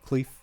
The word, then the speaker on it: Klementieff: Just it's Klementieff. Yeah. Which I Cleef. Yes. That sounds right.